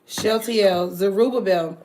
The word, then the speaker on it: Zerubbabel: It's pronounced Shel. Zerubbabel. So, oh Zerubbabel, my servant and son of Chatiel, saith the